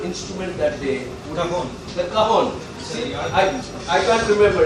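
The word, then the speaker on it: cajón: The cajon. See, I can't remember. It's a European instrument. It's spelled cajon, K-A-J-O-N, but it's pronounced cajon.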